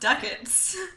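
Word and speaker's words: ducats: I showed her like I'm pretty sure it's pronounced duckets I no I'm I'm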